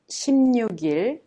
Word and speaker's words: 16일: One moment, you need to notice the pronunciation of 16일, 16일.